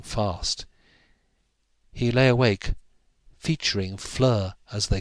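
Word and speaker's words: Fleur: in the sharpening light Flur it rhyme with her and she lived at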